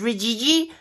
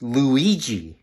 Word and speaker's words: Luigi: And this one is Rijiji, and he represents good health. Oh, I think it's pronounced Luigi. Uh-huh, you're right.